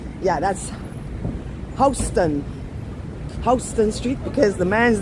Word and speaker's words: Houston: here so this is West hon street it's pronounced hon because it's the name of a man John hon that's why it's not Houston like in Houston Texas it's h Mommy Mommy